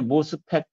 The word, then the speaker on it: MOSFET: 인제 이걸 읽을 때 MOS니까 MOSFET 이렇게 읽는 사람도 있고 나는 마스펫이라고 읽어요. 마스 혹은 이제 모스펫. 모스펫 할 때 모스는 오 발음을 그냥 우리식으로 그냥 발음한 거죠. 모스펫. 마스펫은 오 발음을 영어식 발음. 어와 아의 약간 중간 발음이죠. 그걸로 이제 마스펫이라고 이렇게 얘기를 합니다.